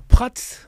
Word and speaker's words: Prats: Donc Prats, d'Esclos, catalan, du Nord. Donc on prononce tous les S bien évidemment.